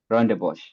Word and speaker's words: Rondebosch: How do you pronounce this? It's Rondebosch. Rondebosch.